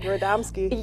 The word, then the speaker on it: Radomski: Radomski.